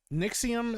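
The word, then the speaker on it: NXIVM: kind of wild um nixim I believe is how it's pronounced yikes what a [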